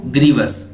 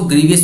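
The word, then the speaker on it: grievous: Next word अपना ग्रीवस, क्या pronunciate करना है इसको, ग्रीवस, फिर इसको ग्रीवियस भी बोल सकते हैं।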